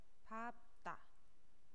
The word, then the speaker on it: 밟다: 근데 여기 보면 밟다 라고 했을 때 리을로 발음해야 되지 맞는 건데, 실제 우리 발음은 밥다 라고 발음할 거고, 밥소 라고 발음을 할 거예요.